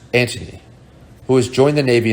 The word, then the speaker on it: Anthony: was a life guard named anthony pronounced antony who has joined the